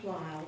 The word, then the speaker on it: Bleill: Marine Corporal Josh Bleill, rhymes with Kyle, is a native of Greenfield, Indiana, Hoosier.